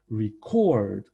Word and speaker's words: record: Record, record. These two words mean something differently because the stress is different.